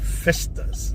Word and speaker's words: festa: population so we have festas like a in Spanish you say Fiesta but the Portuguese pronounce it Festa there's lots of Portuguese